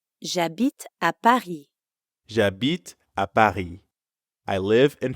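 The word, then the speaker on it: J'habite: means i live it jabit is actually two words je which you already know means i and abit which means live in french when one word ends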